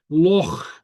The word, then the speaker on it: loch: Yeah, very often English speakers will pronounce it loch, like a CK, but it's not. It's not a CK. It's a loch.